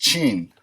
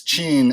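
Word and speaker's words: Qin: it's looking for his family name this is pronounced Chien I know it looks like Queen but it's Jean and that's actually where the name of China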